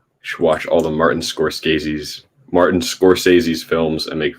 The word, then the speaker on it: Scorsese: function if that makes any sense squirt stacy scorsese that's how you say it i know i'm